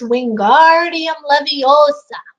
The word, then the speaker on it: Wingardium Leviosa: then she shows him it's Wingardium Leviosa nice and long now how do you